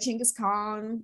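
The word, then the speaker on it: Genghis Khan: just like i don't know like maybe like ching is khan like i think that would be cool apparently that's the correct way to pronounce it according to my like angry korean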